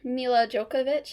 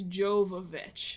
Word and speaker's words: Jovovich: um what's her name mil jokovic is that her name I think it's Jovovich because I was trying to figure out how to pronounce it after like she posted